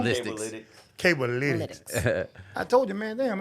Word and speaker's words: Cablelytics: Cablelytics.